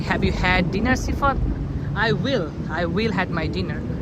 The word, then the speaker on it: Sifat: It's called Sifat. Sifat. S-I-F-A-T. Sifat. Sifat. But I'm not fat. It's how it's pronounced.